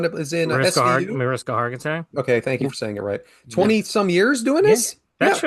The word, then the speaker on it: Hargitay: You're playing the Mariska same Haggerty, right? Is that her name? The one that is in SVU? Mariska Hargitay.